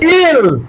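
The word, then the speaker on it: aisle: দেখতে হবে বলো এ আই এস এল এ ইল corridor ইল হচ্ছে এই যে দুই পাশে বেঞ্চ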